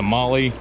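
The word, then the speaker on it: Mahle: get the good one it's a molly uh that's how you say it so got this gasket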